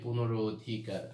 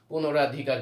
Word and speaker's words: পুনরধিকার: আমরা অনেক সময় বানানটা ভুল করে থাকি, পুনরাধিকার বলি, পুনরা এ র আকার দিয়ে দিই, কিন্তু না, পুনরধিকার, এখানে অ আছে, এই জন্য এটাও আকার হবে না, অয় হবে, পুনরধিকার।